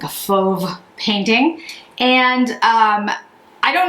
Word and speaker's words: Fauve: eyeshadow quad in foam it's spelled f-a-u-v-e and i actually know how this one's pronounced because i took a lot of art classes in well actually throughout my life i took a lot of art classes and fov um is a type of painting style almost uh usually